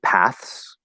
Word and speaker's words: paths: When you add the s, you can actually make it voiced or voiceless. It doesn't matter. You can say paths, paths, and that s is going to turn into a z as well. Baths, baths.